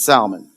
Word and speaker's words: salmon: It's salmon. Did I say that pretty close? Salmon. Salmon. Yeah, that's how you say it, huh? I like the L. I like putting the L in there.